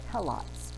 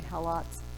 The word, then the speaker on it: Helot: Sparta conquered the neighboring peoples, and they call them Helots. Sometimes it's pronounced Helots.